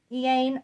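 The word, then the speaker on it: Iain: Ian, I-A-I-N. It's not how you normally spell Ian, but Ian is the best pronunciation I got for this book, for this one.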